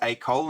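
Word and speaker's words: école: okay the word is AOL it's pronounced AOL and it means school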